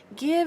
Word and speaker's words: give: good over those differences give is one of those weird ones even though it has a silent E that the I is short and not long give live right forgive